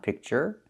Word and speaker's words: picture: Picture just the sound picture.